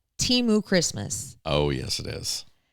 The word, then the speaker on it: Temu: to be another, and I'm saying it wrong, but this is the way to say it, Temu Christmas.